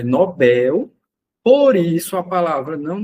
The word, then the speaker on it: Nobel: O item um tá afirmando que a pronúncia correta é Nobel. Por isso a palavra não deve ser acentuada, já que a sílaba tônica é a última oxítona e terminada em L.